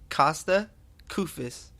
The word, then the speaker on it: Kosta Koufos: Kosta Koufos. I pronounced it.